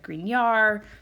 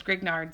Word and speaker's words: Grignard: reagents thus far and i know that i'm not pronouncing this correctly because it's French and I'm sure it's like green yarr something like that but it seems to me like it says grignard so I've always just